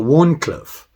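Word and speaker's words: Wharncliffe: the pronunciation coming up the warn cliff w-h-a-r-n cliff you can see the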